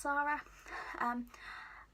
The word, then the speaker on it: Sara: Shepard some people say sorry some people say Sara to me that's pronounced Sara I've read the pretty